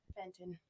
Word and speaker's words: Fenton: how do you say your last name again Fenton Fenton super with Sammy Fenton have her Instagram